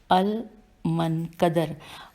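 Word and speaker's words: المنكدر: दूसरे नंबर पे नाम है मोहम्मद बिन अल मनकदर। अल हिज्जे करते हैं मोहम्मद बिन अलिफ लाम मीम नून काफ दाल रे, अल मनकदर।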